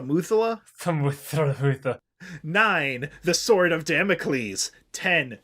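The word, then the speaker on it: Methuselah: mother eight i i i'm going to spell this out i don't know how to pronounce this t-m-e-t-h-u-s-e-l-a-h thimmozela's toy i think it's the muthullah the sword of damocles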